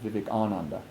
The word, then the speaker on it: Vivekananda: So it's a big difference to say that Swami Vivekananda came over than saying Swami Vivekananda, which is actually the pronunciation Vivekananda.